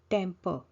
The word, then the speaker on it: temper: Temper. Now see here, R is not pronounced. Temper, which means interfere with something or meddle.